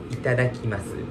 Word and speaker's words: いただきます: Similar concept, but we say itadakimasu. Itadakimasu? Yeah, great, great. Beautiful pronunciation.